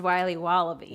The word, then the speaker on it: Wiley Wallaby: Wally's will be wobba beats pronounced Wiley wallaby well it's very good it's called Wiley wallaby and it's delicious